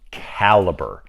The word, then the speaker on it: Calibre: Next up, Calibre. Yes, that's actually how it's pronounced. I was looking at it, I was like, Calibre? How do you say it? It's just Calibre.